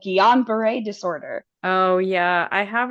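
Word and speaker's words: Guillain-Barré: the shingri doesn't care they over pronounce it because it is a it was named after a French cut so G they say it really like uber French and um it's like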